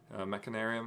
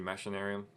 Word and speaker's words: Machinarium: I'm not sure how you pronounce this game. Machinarium sounds good. Machinarium. I think it's actually Machinarium.